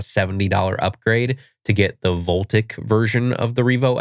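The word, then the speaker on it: Voltiq: It's spelled like Volt IQ, V O L T I Q, but I think it's pronounced Voltic.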